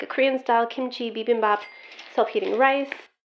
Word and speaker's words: bibimbap: This looks like a Korean style kimchi bibimbap self-heating rice. Let's link it to three lightning-fast rhyming building blocks. B beam bop.